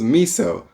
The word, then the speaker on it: Miso: So I chose Miso, like miso shiru, right?